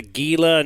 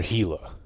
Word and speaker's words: Gila: we'd meet you there I wonder if they say Gila or hila because it's a hila monster right I think that's how you say it but I've never